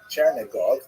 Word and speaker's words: Chernigov: And there's another, Isaac of Chernihiv, sometimes recorded as Isaac of or Yitzchak of Chernigov. That would be the Russian pronunciation of the same place.